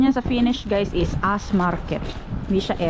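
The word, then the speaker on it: S-market: dito sa s market s market pero ang pronunciation niya sa finish guys is as market siya s s Oh so many flowers basket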